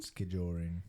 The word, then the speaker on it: skijoring: then j o r i n g skiing skijoring ski oring it draws his name from the